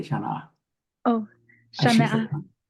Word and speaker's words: Shaaníʼaah: Oh, Karina, you just have to say Shaaní'aah.